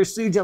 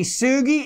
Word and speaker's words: Sugi: right i hope and that's with a hard g it is no longer suji like poor konichi sugi in 1945 when he discovered it little did he know that his name would be forever mispronounced after that and the mineral named